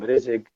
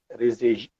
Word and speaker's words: Rezeg: So what I want to tell you that first of all, my name is Rezeg. We can use many pronunciation of my name, Rezeg, Rezeg, Rezeg. It depends. So what does it mean?